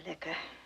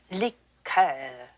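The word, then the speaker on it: liqueur: I don't care for liquor when referring to a cordial we use the French pronunciation liquor miss Tinsley I shouldn't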